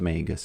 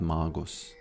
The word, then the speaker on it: Magus: It It's pronounced Magus. I know it's not Magos, but I started saying it that way, so I'm not going to change my ways now.